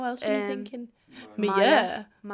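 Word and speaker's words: Meyer: Would you pronounce her last name Mayer? Katie Mayer. Yes. Yeah. How else were you thinking? Maya. Mia.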